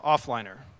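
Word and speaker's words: Oghliner: is a project called off liner and yes it's pronounced offliner like trough or Gough Street here in San Francisco or fish according to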